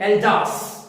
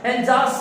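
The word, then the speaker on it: Alsace: एल्जास, याद रखेंगे प्रोनाउंसिएशन, एल्जास शहर के अंदर है।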